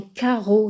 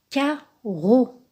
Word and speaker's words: carreau: Mais les deux se prononcent comme un seul R.